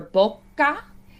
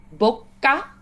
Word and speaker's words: bocca: Then we have for bocca, we have a double consonant there. The C comes before an A, so that's why we have a K sound. But also the double consonant, we really want to make sure that we kind of linger. We sort of like pause or like linger or stretch.